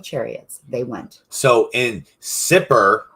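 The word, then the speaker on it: Sippar: on our map today s-i-p-p-a-r sipper is what how they call it sit bar super right however you want to say it pronounce it you can find that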